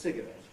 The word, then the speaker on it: cigarette: The cigarette, of course, there's an exception in American English in particular. The word cigarette is pronounced cigarette, right?